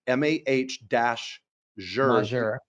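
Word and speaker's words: Majuro: Navy helicopter pilot says the proper way to say it is MA sure that's mah - juror moszer and he says we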